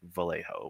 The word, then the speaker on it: Vallejo: uh Megan says yeah you pronounce pronounce the L in Vallejo. So it would be like Vallejo with like the actual L sound.